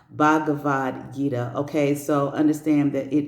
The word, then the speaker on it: Bhagavad Gita: The Bhagavad Gita, I've been saying it wrong. Bhagavad Gita.